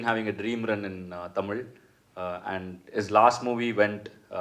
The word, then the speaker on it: Tamizha: that's not Tamizha, that's Tamila. Tamila. It is nothing like hip hop and Because from we Tamil are Nadu. Hindi speaking also, Yeah. we can mistake in pronunciation.